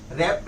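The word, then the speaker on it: wrapped: रेप glasses where रप यहां पर डब्लू फिर जैसे यहां प के साइलेंट लेटर हो गया यहां प डब्लू साइलेंट लेटर हो गया मतलब बोलने के टाइम प हम डब् नहीं बोलना है रपट बोलना है खाली रपट का मतलब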